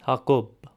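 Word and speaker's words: Հակոբ: In eastern Armenian, it's the name Jacob, also known as James. In Western Armenian is Hagop. In Eastern Armenian, it's Hakob.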